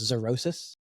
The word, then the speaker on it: xerosis: And this condition is known as xerosis. It's spelled with an X. Xerosis, pretty cool.